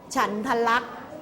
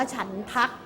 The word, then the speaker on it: ฉันทลักษณ์: เช่น คำ ว่า อะไร ฉันทลักษณ์ ไม่ อ่าน ว่า ฉัน ทัก เมื่อ สัก ครู่ นี้